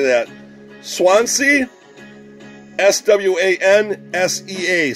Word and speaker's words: Swansea: of swans well how do you say that Swansea SWA NS ta Swansea Wales so there you go yeah rebranded as